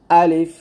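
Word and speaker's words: ألف: রাহিম আলিফ আলিফ আলিফ আলিফ দেখুন মুখের খোলা জায়গা থেকে আমরা আলিফ উচ্চারণ করব আলিফ এবং আলিফ উচ্চারণ করার সময় কি করতে হবে তাড়াতাড়ি উচ্চারণ করতে হবে আলিফ আলিফ দেখুন আমরা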